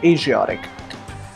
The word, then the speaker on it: Asiatic: Now both these words are used with the pronunciation sh and zh equally. In the American English, it's the zh sound as in measure that's used to pronounce it. So it becomes Asian and Asiatic.